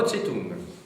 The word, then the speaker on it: Zedong: D'Henri Beauchot, chez Flammarion, Mao Tse-tung. Oui, ça s'écrit Zedong dans l'écriture pinyin actuelle, mais on prononce quand même Tse-tung comme avant.